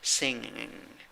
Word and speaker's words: singing: Singing, singing, singing. Okay, and number 10, 7 letters, 5 sounds in 2 syllables.